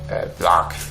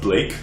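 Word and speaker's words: Blark: He says, yeah, actually, I fought alongside Black, who we carry out a secret mission in Metal Gorge Keep. He's creepy, man. Wait, you say Black? Are you sure his name's not pronounced Blake? No, B-L-A-R-K.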